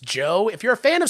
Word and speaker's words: Djo: If anyone has never heard of the band DJO, pronounced Joe, if you're a fan of Stranger Things, you may recognize the leader of the band.